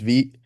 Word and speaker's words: Vite: It's pronounced Vite. I'll slip up every once in a while and call it Vite, but it's Vite. Um, and it's some other language that stands for fast.